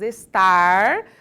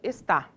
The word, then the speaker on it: estar: tem o hábito de não pronunciar o r final das palavras então no lugar de nós falarmos estar nós temos o hábito de falar parece que nós estamos falando está dá pra entender ou